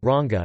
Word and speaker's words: रंग: For example, the word ranga color is pronounced as ranga in Marathi and rang in other languages using Devanagari despite same spelling.